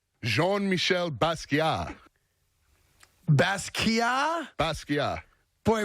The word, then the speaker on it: Basquiat: You don't pronounce the Basquiat. T at all.